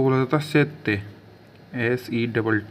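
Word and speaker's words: sette: उसके बाद है सात सात को बोला जाता सेत्य एसई डबल टी सेत से मतलब होता है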